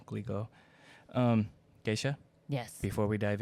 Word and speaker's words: Glico: candy company, I think it's pronounced Griko, which is like, I think they're the Pocky people. Yeah, he was kidnapped from his own home. It's Glico. I'm trying to say it correctly. Glico.